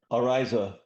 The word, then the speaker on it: Araiza: Faith and I'm going to pronounce your last name wrong, Mike. How is it? Sure, Ariza. Ariza, good thing I didn't even attempt to pronounce it.